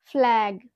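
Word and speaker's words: flag: Next, জি একদম ওয়ার্ডের লাস্টে গিয়ে বসে তখন আমরা সেই ক্ষেত্রে জি কে গ হিসাবে উচ্চারণ করতে পারি। For example, ফ্ল্যাগ। এখানে আমরা দেখো ওয়ার্ডটার মধ্যে কি দেখতে পাচ্ছি? এটা কোথায় আছে? একদম ওয়ার্ডের একদম লাস্টে রয়েছে। তো জি কে আমরা এখানে কি উচ্চারণ করব? গ হিসাবে।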